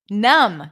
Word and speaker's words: numb: very good thumbnail finally it works thumbnail good numb good I didn't think about this one right